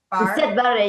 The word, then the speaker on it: Siad Barre: What you mentioned about the language, because you also, for the participants, you mentioned, I'm going to get his name wrong, Siad Barre. Siad Barre, yeah.